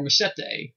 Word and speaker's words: Machete: So first up we have a film directed by the man Robert Rodriguez, and that is called Machete. Or Machete, as they pronounce in the movie.